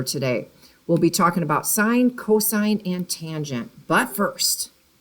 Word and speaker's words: sine: that this is pronounced sine now we've used just the first three letters s i n so that's not sin but it is pronounced sine with a long i this is going to